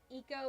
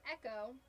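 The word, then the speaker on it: Ecco: You know what I always pronounced wrong? Eco the dolphant. for the Sega Genesis. Yep. That's Echo, not Eco.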